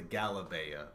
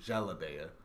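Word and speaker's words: jalabiya: Something called the where I learned Arabic, it was called the galabeya, but it is, I think, mostly pronounced jalabeya.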